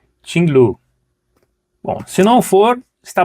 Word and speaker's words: QINGLV: Pois é, essa, pelas pesquisas, é a pronúncia mais próxima deste nome, Tinglu.